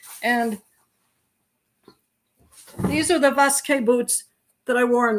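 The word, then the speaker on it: Vasque: The boots that I'm completely in love with are called Vesque. Vesque in Spanish, you wouldn't pronounce the V, you'd pronounce it B, but V-A-S-Q-U-E, Vesque. And these are the Vesque boots that I wore in the Camino.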